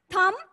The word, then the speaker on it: thumb: थम, THUMB, थम. बी जो है इसमें साइलेंट है, बी को हम नहीं पढ़ेंगे.